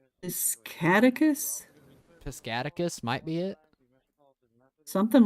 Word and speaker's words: Piscataquis: Piscatacus? Piscataquis might be it. Something like that, maybe. I don't know. How to pronounce Piscataquis? Piscataquis.